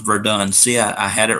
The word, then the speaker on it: Verdun: make it I was just asking oh it's pronounced Verdun see I had it right the first time